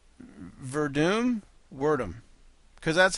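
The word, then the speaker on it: Werdum: Yeah, he broke down the Verdum Hunt fight, gave it to Verdum, which I might do too.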